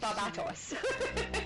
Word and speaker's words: Barbatos: Yeah, David said Barbatos. With the correct pronunciation, David.